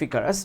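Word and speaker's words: Icarus: প্রথমটা হচ্ছে story of ইকারাস বা ইকারুস, যেই নামেই মানে দুই নামেই ডাকা হয়, উচ্চারণ যাই করো।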